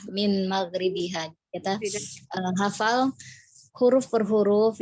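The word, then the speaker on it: من مغربها: Nah, min maghribihanya tadi dibacanya mim maghribiha. Jadi ada baiknya dibacanya jelas ya, min maghribiha.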